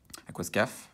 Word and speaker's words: Aquascaf: Aquascaf, on va la prononcer en français.